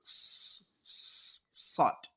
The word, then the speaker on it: ص: The difference is that you pronounce so like S-O, then you pronounce zo like Z-O.